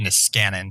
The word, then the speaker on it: Niskanen: You pronounced it correctly in Finnish. It's a Finnish last name, but the guy we named it after pronounced it Niskanen. So it's the Niskanen Center.